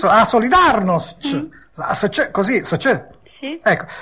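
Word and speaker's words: Solidarność: com'è Come si dice non ho capito Eh solidarnost sì solidarnost ah solidarnost così Sì Ecco E ora passo a chiederle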